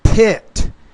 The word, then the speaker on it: pit: conducted in a jumping pet style Arena no pit pit style Arena you have to pronounce that P with more air pit style Arena a